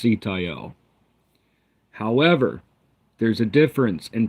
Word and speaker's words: Sitael: We know it's pronounced Sitael.